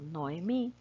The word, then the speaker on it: Noemí: caso yo me llamo noemí voy a dividir las sílabas no sería no otra y recuerden que las vocales son sílabas aparte y me no emmys es una palabra de tres sílabas bueno voy a escoger